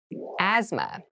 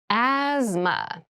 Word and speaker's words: asthma: deep cavity deep cavity asthma asthma Asma so this word has very interesting spelling there's a th in the middle but we don't say Asma we say Asma so kind of of ignore that but try to remember